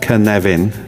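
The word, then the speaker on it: Cynefin: Uh, This is the Canvian framework uh pronounced Knevan um for those of you who don't speak Welsh.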